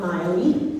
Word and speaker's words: Maile: I'm Miley, pronounced like Cyrus, not a redneck. She's not either really. Maile Flanagan.